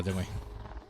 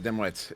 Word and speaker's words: Dimwee: All right, here we go, Dimwee. And yes, I am okay. But my name is not Dimwit. It's Dimwee. The T is silent.